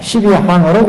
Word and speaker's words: 12행: 12항으로 굴린다. 항이라고 보통 발음을 합니다. 항목으로. 보통 우리가 행이라고 읽지만 원래 발음은 항, 12항.